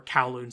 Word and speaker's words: Kowloon: Or Kowloon, sorry. I'm bad at pronouncing that properly. I always say a Kowloon kind of thing when it should be Kowloon. It's spelled K-A or K-O-W though.